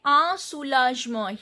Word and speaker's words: un soulagement: Here I am not pronouncing this N. Un soulagement. OU joint vowel sound is U. Soulage. G is sound. G is when G is followed by E, the pronunciation of G is J. Soulagement. Then T, again T is not pronounced and EN sound is Un soulagement.